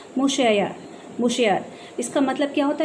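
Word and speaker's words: monsieur: आर यू, यहाँ पर देखिए एक वर्ड दिया हुआ है, इसका प्रोनाउंसिएशन आपको नीचे दिया हुआ है, मुशैयर।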